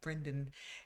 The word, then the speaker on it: Brendan: Uh but Brandon Frasier uh I always say his name wrong. Brendan, he uh was immaculate in that movie.